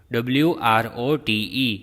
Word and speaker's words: wrote: will say i wrote w-r-o-t-e wrote w is silent over here so raman wrote neatly